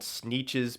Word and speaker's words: Sneetches: They live on like an island, so I think they're called Sneetches because it rhymes with the word beaches, because that's where they live.